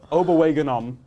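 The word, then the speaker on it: Okwuegbunam: It's Albert Oberwegenom. I can pronounce it because I listened to another podcast and they pronounce it.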